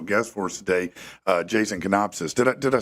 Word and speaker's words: Konopisos: Yeah, you can say it Konopisos, or the traditional way is Konopisos, but we use either way. I assume that's a Greek origin. Is that right? Yeah. Okay. Say it one more time. The true way. Just phonetically, Konopisos.